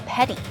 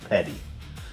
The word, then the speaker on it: Peddi: Why are you being so petty? It's pronounced Petta.